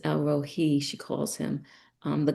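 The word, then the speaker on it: El Roi: she I believe it's pronounced Elro Hei.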